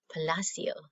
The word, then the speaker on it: Palacio: story wonder by rj palacio i mispronounced his name earlier who's using the italian palacio palacio so now we'll return